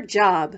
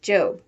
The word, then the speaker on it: Job: one two way before going off to her job which in the Bible is pronounced job remember that the one two books Sam is